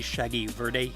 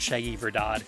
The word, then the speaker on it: Shaggy Verde: 12:58, it's supposed to be Shaggy Verde, green Shaggy, not Shaggy Verdad, true Shaggy.